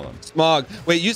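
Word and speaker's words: Smough: Smog. Wait, you said you pronounced it Smog? Smog, whatever. Does it? Smog? I mean, it's O-U-G-H, you know? What? How do you say it? I guess Smuff, like tough.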